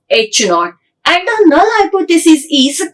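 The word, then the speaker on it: H₀: show by using the H 0 and it is the pronounced as H naught and the null hypothesis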